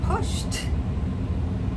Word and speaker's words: pushed: So, we talked about pushed.